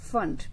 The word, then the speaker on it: Pfund: और पांचवी टाइप की जो रेडिएशंस थी उनका नाम रखा गया फंड, PFUND. P is silent here.